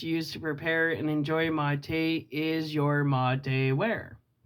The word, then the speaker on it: mate: Mate, pronounced mate, is the term traditionally used to describe the entire unit, which is the bombilla, gourd, and yerba.